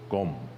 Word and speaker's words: Gom: we use the word Gom so it is just kind of like a simple pronunciation of g-o-m and in tibetan we